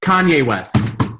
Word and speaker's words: Kanye: Kenny? Is it Kenny? Kenny West? Kenny? Or is it Kanye West? Kanye West. That's right.